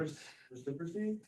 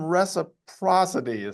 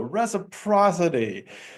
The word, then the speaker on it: reciprocity: That's a basis of reciprocy. Yeah, it's a hard word to pronounce.